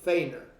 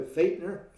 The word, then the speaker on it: Feighner: me I have Feainer. Is that how you pronounce it? You pronounce it like there's a T in it. It's of German. So Fightner.